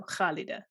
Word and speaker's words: Khalida: an arabic name so khalida yeah so there's this is this sound in the back of your throat that has to be practiced actually yeah i was